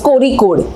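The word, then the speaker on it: Kozhikode: कोज़िक code आपने सुना होगा स्पेलिंग में कोज़िक कोड जैसा लिखता है बट उसको प्रोनाउंस किया जाता है कोरीकड।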